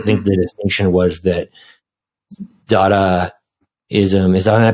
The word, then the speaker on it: Dada: conversation that I think the distinction was that daada is um is I'm I pronouncing that right yeah dada yeah dada is uh more just like absurd